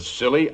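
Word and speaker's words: Scilly: New Year's Eve off the silly Isles the silly Isles that sounds appropriate doctor the name of these particular islands is spelled s c i l l y they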